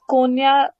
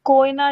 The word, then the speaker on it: कोयना: Okay, एक minute, कोन्या pronunciation गलत है, कोयना डैम है।